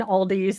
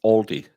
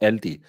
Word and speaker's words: Aldi: So please, it's Aldi or LD if you want to say it correctly. There's no S.